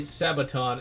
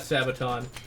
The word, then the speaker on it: Sabaton: But I'm a big fan of Sabaton, or Sabaton, or however you pronounce their name. I think it is Sabaton. At least that's how they were pronouncing it in one of their live shows. It's like Sabaton, Sabaton. I'll assume that's how they pronounce it.